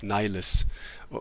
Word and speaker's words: Nihilus: So Nihilus is, or Nihilus as they say, would be a more Latin pronunciation, which isn't wrong. It's just a bit weird in an otherwise English song, because in English you'd say Darth Nihilus.